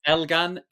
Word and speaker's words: Elgan: So it's Elgan.